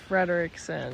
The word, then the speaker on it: Frederickson: My name is Frederickson. Frederickson. Okay. Some people pronounce it Frederickson, but that's actually wrong. Wait, really? Yeah, it's Frederickson because there's two E's.